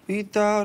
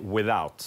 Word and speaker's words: without: Och egentligen det enda viktiga där är uttalet på att det blir without, ja, och inte without. Okej, okej, okej. Så tänk dig att lite mindre i with. Att ta den liksom bara with.